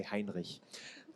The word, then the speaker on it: Heinrich: You have to say Heinrich. That's how you say it.